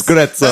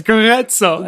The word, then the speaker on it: Grezzo: I never thought to pronounce Grezzo as Grezzo. That's how it's really pronounced, isn't it, Jordan? Thank you. Yes, Grezzo.